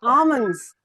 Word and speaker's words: almonds: We usually call it almonds but L is silent. It's almonds.